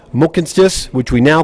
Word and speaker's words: Mohkinstsis: the traditional Blackfoot name of this place is pronounced Mohkinstsis, which we now call the city of Calgary.